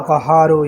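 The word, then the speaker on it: قهار: یا قہار پڑھیں، یا قہارو یا قہارو یا قہار، پورے تلفظ کے ساتھ، اور یہ ہاں کی پوری تشدید ادا کرنی ہے، یا قہارو۔ اسی تشدید میں سب کچھ ہے، آپ لوگ ان باریکیوں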